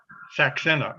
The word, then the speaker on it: Saxena: dunker okay and um last name is pronounced again saxena okay thank you very